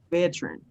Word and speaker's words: veteran: only two you have only two sea levels veteran someone who has been in the armed forces